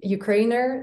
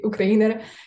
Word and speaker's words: Ukrainer: And Ukrainer, that's how you pronounce it, you don't have to say Ukrainer.